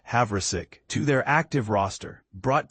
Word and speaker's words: Havrisik: They've added kicker Lucas Havverick, pronounced Havik to their active roster,